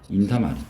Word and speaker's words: 인사말: 이거는 4번은 발음이 인사말입니다. 발음이 인사말. 아, 이거 너무 어렵죠. 선생님들 옛날에 공부할 때 아주 그냥 짜증났는데 된 소리가 안 되거나 니은이 겹친 소리가 안 되거나 그런 게 있어.